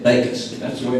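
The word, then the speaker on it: Bakhaus: Rusty told me 19 years ago, he said, if you want to know how to pronounce it, just remember, John baked me a cake. Bacon. That's the way it's pronounced. Bacon.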